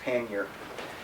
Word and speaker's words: pannier: a whole video on the proper pronunciation of pannier and he got somebody uh a scholar from the oxford english dictionary and uh the it is settled that it's pronounced pannier anyways so in this uh bag i got